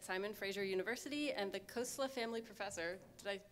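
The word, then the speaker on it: Khosla: John Willinsky is a professor of publishing studies at Simon Fraser University and the Kosla family professor. Did I pronounce that right? Yes, Kosla.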